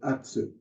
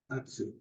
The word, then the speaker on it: atsu: like in the Cy the second to the last syllable in any in any phon is uh is where the accent comes in the word for um a cup would be atsu atsu see that second to the last syllable ATU but now in a